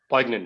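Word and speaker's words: poignant: okay sir first one po poyant very good that's how you pronounce that word poyant means something that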